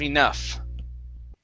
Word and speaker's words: enough: the last word there ends with an f sound f is in Frank enough enough enough enough there you